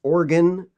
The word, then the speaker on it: Oregon: it's pronounced willamette and it's organ like organ in your body but it's kind of